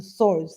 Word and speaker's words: swords: to pronounce this um well the swords the swords that's how you pronounce it the swords cards so